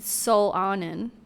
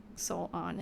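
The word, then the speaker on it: Solanin: I've been into manga I've always said Soul awning okay yeah that's definitely it soul on and rhymes with melanin we could look up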